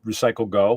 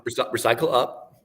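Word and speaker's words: Recycle Up Ghana: Did I pronounce that right? Recycle Go. Recycle Up, Ghana, Recycle Up. Recycle Up. right? Yeah, I knew I didn't. That's Recycle good.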